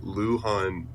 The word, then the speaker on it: Luhan: Luhan rhymes with Wuhan, China, which is where COVID-19 started.